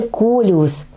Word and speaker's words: колеус: всем известное растение - это колеус произносится с ударением на первый слуг все мы знаем колеусы